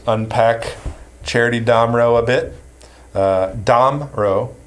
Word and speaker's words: Damrau: Damrau, the pronunciation, the emphasis is on the first syllable.